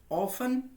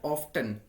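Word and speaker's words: often: मतलब होता है अक्सर, इसको हम ऑफन या फिर ऑफ्टन, दोनों प्रोनाउंसिएशन ठीक है, एक अमेरिकन है एक ब्रिटिश है. तो ऑफ्टन जो होता है ये अमेरिकन प्रोनाउंसिएशन है फ्रेंड्स, और ऑफन जो है वो ब्रिटिश प्रोनाउंसिएशन है.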